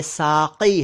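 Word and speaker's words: साक़ी: एक शब्द है साकी साकी को कई लोग साकी कह देते हैं साकी प्लीज साकी ना कहा करें यह साकी है क के नीचे नुक्ता है साकी साकी अरबी भाषा से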